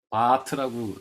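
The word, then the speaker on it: Barth: 바르트라는 학자가, 바르트, 제가 독일어로 씁니다. 칼 바르트예요. 바트라고 사실 독일어로 하면 바트라고 읽는 게 맞죠?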